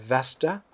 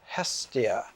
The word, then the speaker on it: Hestia: it has the frontispiece here of vesta actually vesta is the latin mispronunciation of the greek name for the woman and her name in greek was aspirated it was hestia hestia the vestal virgins